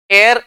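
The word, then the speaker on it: air: वैसे इसका शुद्ध उच्चारण जो होता है वो होता है एयर। क्या होता है? एयर इसका उच्चारण होता है।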